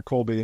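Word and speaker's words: Kolbe: Staffing in general and the Colby again is spelled k o lbe and it's really helpful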